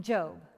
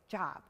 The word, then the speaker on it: Job: story of a man named job i mean job try convincing kids that you pronounce it job no it's job well once you get the pronouncement of his